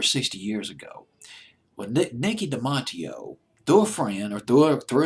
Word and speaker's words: Dematteo: The Italian pronunciation is Dematteo, but I'll just pronounce it as Dematteo.